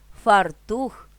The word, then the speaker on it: фартух: фоль курятина дрова лате підсилено вимовляємо другий склад У лексемах новий цінник мережа квартал феномен середина фартух чорнослив граблі чорнозим наголос